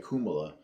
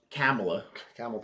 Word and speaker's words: Kamala: Like he actually apparently says it the correct way, and it's like Kumala, like that. Kumala. It's supposed to be like Kumala. Like when he was talking about it, he was pronouncing it like Kumala, and it's an Indian name. That's how you're supposed to pronounce it.